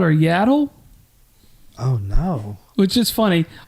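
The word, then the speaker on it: Yaddle: a dog yeah so yattle is yattle yattle yattle yattle is yle's cousin from Sand Mountain yattle I mean I guess it is spelled like paddle yattle paddle and I'm not trying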